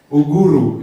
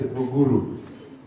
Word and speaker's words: Ugur: In Swahili, and pronounce all the letters. Yeah? Uguru, yes, Uguru.